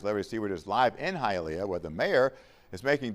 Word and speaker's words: Hialeah: It's pronounced Hialeah. They mispronounce it in the thing. Hialeah is a Native American word. Now it's pronounced Hialeah, you know, because it's in Spanish.